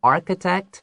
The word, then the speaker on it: architect: 没错，所以在这边的话，特别注意一下这个 architect 这个字的 ch 的发音，它的话不是发 ch，它是发 k，所以在上面可以写个 k architect，好，就是指建筑师的意思。所以整句话就说了，He plans to become an architect，他打算要变成一个建筑师。后面他就告诉你，Who will build a huge shelter for stray dogs。然后他呢？变成建筑师之后，要为这个流浪的狗狗们打造一个非常大的一个收容中心，这样子可以照顾他们。